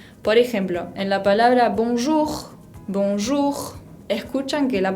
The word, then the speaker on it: bonjour: no la era por ejemplo en la palabra bonjour bonjour escuchan que la pronunció don roose ahí si suena o lo